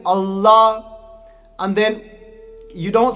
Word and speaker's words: Allah: So you twist your tongue when you say the la.